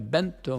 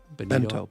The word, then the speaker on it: Benito: It was recovered and held by Benito Mussolini's fascist regime. Benito. But what did I say? Bento. Bento's a Japanese snack tray, Benito.